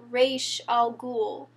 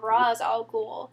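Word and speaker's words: Ra's al Ghul: League of Assassins and she has pronounced to like the correct like Asian pronunciation R Al ghoul like in front of the arrow team like a ton of times but even so they're still calling him raw is all cool because that's Americanized ra yeah and but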